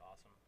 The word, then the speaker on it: Awesame: just say awesome um everybody has tried to put like every possible pronunciation on it I just say awesome um same thing happened